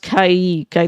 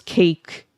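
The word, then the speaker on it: caique: That that it's pronounced Kaiik. I thought it was cake. At first when I was cat k like like eek is one syllable.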